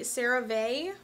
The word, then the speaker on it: CeraVe: far as skincare goes I've been trying the CeraVe I'm assuming is how you say that my mother-in-law thought it's that it was pronounced crave so tomato tomahto this is actually the